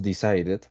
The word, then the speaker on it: decided: Entonces, un ejemplo, tenemos decided, que ahí sí pronunciamos la E, y tenemos en la